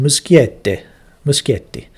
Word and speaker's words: Muschietti: That's how you pronounce it, Muschietti.